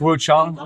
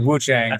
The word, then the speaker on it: Wuchang: So it's perhaps Wu Chong then. Yes. Wu Chong. Wu Chong. Fallen feathers. I think the tendency thanks to the Wuang clan is to pronounce it Wu Changang.